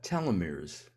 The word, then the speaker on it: telomeres: Uh, we've talked about telomeres, and I think I'm pronouncing them right.